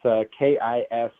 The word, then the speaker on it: Kistler: It's Kistler. Yeah, Kistler. Okay. Yeah, that's wasn't sure. I tried to pronounce it before you came on.